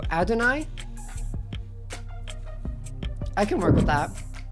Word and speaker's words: Adonai: Most common accepted pronunciation puts the stress on the first syllable, so Adonai?